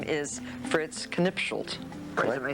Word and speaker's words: Knipschildt: His name is Fritz Knipschildt.